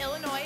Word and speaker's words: Illinois: I'm Lauren Jolly from Lilburn, Georgia, and I hope Kaminsky from Wayne, Illinois, and the Illinois is pronounced without the S, you all.